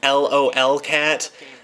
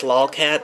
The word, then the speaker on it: lolcat: Doug actually, the LOL cat, it's pronounced lolcat, that line, he actually, I think he didn't realize that lolcat is a phrase because he unintentionally said LOL cat.